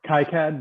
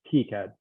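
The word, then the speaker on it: KiCad: um uh using uh how do you pronounce that keycard i pronounce it some people call it kai cad but i think it's key cad yeah and seed seed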